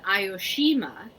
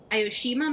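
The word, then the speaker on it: Aoshima: that Japan yes I am not going to pronounce that right oh a visit to ayoshima a Japanese Cat Island ioshima might be the most famous cat Island in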